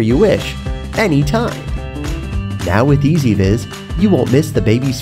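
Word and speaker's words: EZVIZ: It's pronounced EasyViz.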